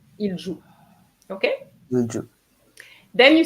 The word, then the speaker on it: il joue: Il joue, yeah. Il Yeah. joue. Remember the ENT of the present tense is silent. So it's just so the ENT. Oh, so it's just il joue.